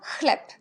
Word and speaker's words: chleb: CH, c'est la même chose au niveau de la prononciation que H. Alors, on prononce CH, ch, et ch, comme chleb.